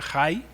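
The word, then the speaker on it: חי: y arameo vienés es una palabra que se pronuncia hi con jota y significa un ser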